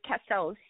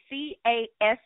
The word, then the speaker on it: Casseau: And even, oh, and his last name is Casseau, Casseau.